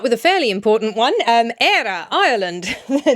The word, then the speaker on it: Éire: Éire, Ireland, the name of the country. Ireland has a fada. I believe Éire is the pronunciation.